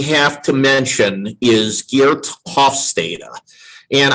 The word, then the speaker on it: Hofstede: And I know a lot of people pronounce his name Hofstede, but I saw a presentation that he gave several years ago, and they introduced him as Hofstede. So I'm like, oh, that must be the correct pronunciation of his name.